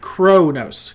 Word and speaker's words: Qo'noS: How does everyone say Qo'nos? Personally, I pronounce it Qo'nos. Yeah, I've heard it Qo'nos, I've heard it Qo'nos, and I've heard it Kronos. Kronos. Kronos. I've heard it several different ways.